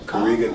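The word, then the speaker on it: Karega: it like that my real name is kariga kariga so um you spell it k-a-r-e-g-a so i just took the k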